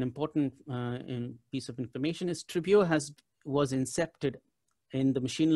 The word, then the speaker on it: Tribuo: It's Tribuo, but I think even looking at the word itself, it's easy to remember. So it's three syllables, and this is what it actually means in Latin.